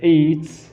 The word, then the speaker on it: ate: In the affirmative, when we talk about a simple past, we can say yesterday I ate. It's pronounced like number 8. Eat. I ate.